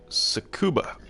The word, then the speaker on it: Tsukuba: Here it's Tsukuba, I think it's pronounced, Japanese track.